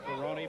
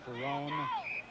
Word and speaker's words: Ferrone: line also Dan Ferrone who pronounces his name Perroni but many people call him perone with the ball